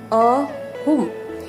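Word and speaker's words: ahum: अभी आप देखिए 3 अहुम, ए को यहाँ पे अ जैसा प्रोनाउंस कर रहे, देखिए अमा, अनी, अहुम।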